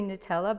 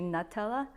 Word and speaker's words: Nutella: One of my friends told me that I mispronounced Nutella. I usually say Nutella, but it's actually Nutella. But tomato, right? The same thing? Nutella.